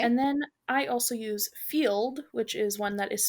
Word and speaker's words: Feeld: And then I also use Field, which is one that is specifically for non monogamous relationships. And that one is spelled FEELD.